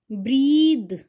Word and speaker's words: breathe: The pronunciation of this word is breathe. Breathe is a verb. सांस लेना, action word, कोई भी काम करना, सांस लेना, breathe. अगर इसकी स्पेलिंग होती BREATH तो ये होता breath.